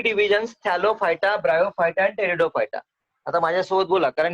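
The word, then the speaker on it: Pteridophyta: थॅलोफायटा, हॅलोफायटा, Hello, ब्रायोफायटा, ब्रायोफायटा, टेरिडोफायटा. टेरिडोफायटा. P silence आहे बरं त्याचा, पी सायलेन्स असतं.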